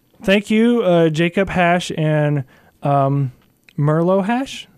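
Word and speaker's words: Mirlo: So thank you, Jacob Hash and Merlo Hash. I think M-I-R-L-O. I think so, yeah. That's how you pronounce it. Merlo Hash, thank you for telling me that you like my show.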